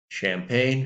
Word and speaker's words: champagne: so in this case the G is not pronounced champagne c-h-a-m-p-a-g-n-e no sound from